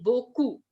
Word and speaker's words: beaucoup: How will we say beaucoup? B-O-C-O-U. That is the English pronunciation, beaucoup.